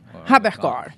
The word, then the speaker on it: Haberkorn: E ele é o Ernesto Haberkorn. É isso mesmo a pronúncia? Isso, Haberkorn.